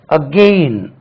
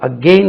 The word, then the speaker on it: again: நம்ம இதை பேட் என்று நம்மளுக்கு சொல்ல தெரியாமல் இருந்தால் இதை நம்ம பாட் என்று கூட தவறாக உச்சரிக்கலாம். மூணாவது பாருங்க, AGAIN. இதை பாருங்க, அகெயின் இப்படி எழுதுவாங்க, அகெயின்.